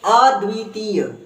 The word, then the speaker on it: अद्वितीय: ये है अ द्वितीय त में बड़ी की मात्रा है तो इसको लंबा ले जाएंगे अद्वितीय फिर से बोलकर देखो